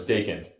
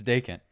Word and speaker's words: Jungels: So Jared, real quick, how do you pronounce his last name? So it's Jungels. It's Jungels. Yeah, it's not. I've heard it pronounced like 10 different ways, and I never know which way is the right way.